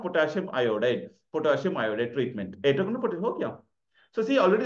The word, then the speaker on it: itraconazole: So ittar, you say ittar, itraconazole.